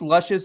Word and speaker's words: Lucius: Is this luscious? This is It's Lucius. Lucius. It's Is it- Lucius. I like calling him luscious. You can call him Luscious, but the proper pronunciation is Lucius.